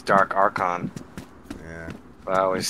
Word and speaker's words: Dark Archon: dark Arch dark uh I always say it like Eddie does dark archin but I'm pretty sure it's dark archon yeah I always say